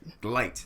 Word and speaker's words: Gylt: It's that one that you really couldn't pronounce that well. What was it called again? Glite.